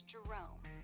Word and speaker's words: Jerome: That's But it's Jerome like the parachute.